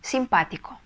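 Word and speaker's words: simpático: Следующее слово «симпатичный» – «симпатико». «Симпатико». Ударение ставить нужно на второй слог. Потому что если не поставим, получится симпатико.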